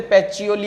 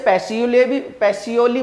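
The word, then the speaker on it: Pacioli: उसने बनाई जी लूका, सॉरी बोलते पैचियोली है ना तो इसलिए लूका, वैसे पैसियोली बोल सकते हैं आप, बट वो क्या है प्रोनाउंस जब थोड़ा सा उसमें करेंगे तो पैचियोली वो करा जाता है।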